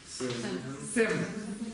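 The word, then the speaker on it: སེམས: Как это будет читаться? Сэм. Где корень? Почему? Огласовка. Это что это будет? Приписная. Са читается? Нет. Да, будет читаться, если была здесь? Нет, никогда не читается.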